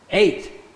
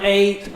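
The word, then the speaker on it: את: 8. Yeah, just like our number 8, or I just ate a delicious meal, 8.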